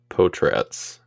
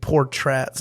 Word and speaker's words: Portratz: So there's only the second R is the real one. Okay. The first one is silent. I thought that had been established as well, that it wasn't Portratz. It was, how did you say it again? Potratz? Potratz, yeah. Okay. Or like, it's spelled like pot rats with a Z.